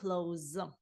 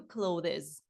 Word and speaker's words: clothes: must buy some New cloes або I must buy some New cloes обидва варіанти вимови слова одяг правильний У цьому реченні Ми